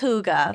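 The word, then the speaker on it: hygge: y g g e so people call it hiy oh it's Huga for anyone who doesn't know it's Huga God fires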